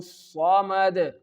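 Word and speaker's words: الصمد: In the second example, Allahu Samad, Samad, Mad, Mad. You can see that the sound is bouncing and I am performing and I am giving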